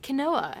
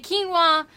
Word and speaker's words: quinoa: fact of the day it's not kenoa every time you see that word that's what I want to say quinoa bing bing bing now you know why don't they just